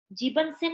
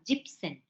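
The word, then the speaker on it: siebzehn: तो यहाँ 7 की स्पेलिंग का ईएन कट ऑफ हो जाता है, तो वो जीव बन गया, जीव, ईएन हट गया, जिप्सेन बन गया, जिप्सेन। जीवन सेन नहीं होगा, जिप्सेन।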